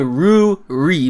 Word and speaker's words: Ruri: backstory with Rudy she every time I say her name and almost seems like I am saying Rudy but I'm saying Roo REE but anyway so we